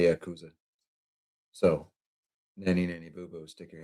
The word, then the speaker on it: Yakuza: It's actually pronounced both. Yeah, see? It just depends on what region of the world you hail from. My corner of the universe, we say Yakuza.